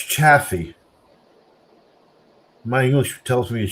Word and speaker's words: Chaffee: It's not pronounced Chafee. It's Chaffee, isn't it?